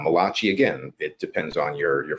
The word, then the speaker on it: Malachi: Well, first of all, with your Jewish heritage, you should have said Malachi, because I that know. would be the correct way of pronouncing it.